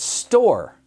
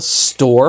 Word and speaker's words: store: Our last word, store, when we break it apart, the first letter is going to be the sound S, which is S, T is T, or is O-R again, with a silent letter, just like in more, which is an E. Store.